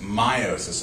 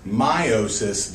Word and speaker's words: meiosis: word here is pronounced meiosis i know it's spelled me osis just remember it's meiosis not your osus it's a german word so you say the second vowel which is weird and this thing behind